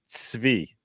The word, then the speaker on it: Zvi: It's pronounced Zvi, like TZV. Zvi. Yeah, that's how if you know German, like the word Zeit in German, Tsetse fly.